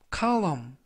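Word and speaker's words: column: 보앗다 라는 뜻이 되겠습니다 이번 표현은 카우 검 카우 험 카 웜 이라고 발음 하시면 되겠구요 이 때 유의하실 점은 맨 끝에 있는 알파벳 대 는 이번 단어 에서는 묵음 이라서 발음이 되지 않습니다 품사는 명사 뜻은 잡지나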